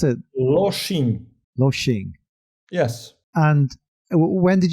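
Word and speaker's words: Lošinj: Can you tell me how to pronounce it? Loshing.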